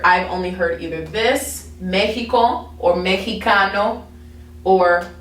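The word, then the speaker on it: México: the letter x okay now x a lot of times makes like an h sound if i'm thinking of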